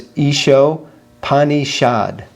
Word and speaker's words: Ishopanishad: And the second S also, because it has a dot under it, that's also like a sh. Okay. So it's Isho Panishad.